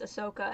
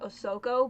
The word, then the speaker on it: Ahsoka: good two hours on it's Ahsoka and not ahoko but we got there I love my mother she's fun to watch Star warss with I mean my family for a hot second always pronounced it Asuka so I you know